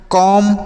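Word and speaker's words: comb: कैसे पढ़ना है, कॉम बॉम थम डम लैम।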